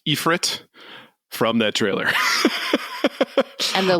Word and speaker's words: Ifrit: iteration of Ifrit I found out that it's pronounced epit from that trailer and the latest iteration of